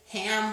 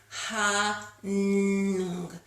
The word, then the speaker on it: Ham: I learned that we actually should be pronouncing it hung with an NG.